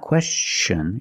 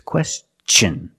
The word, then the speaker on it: question: like chicken and change with words like this question it's not question it's a question use the hard CH sound because the tion is after an s let's see some other